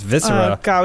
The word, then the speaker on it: viscera: Roth it's viscera it was a wrestler called viscera that's the only reason I know how to pronounce any of these tough words this syrup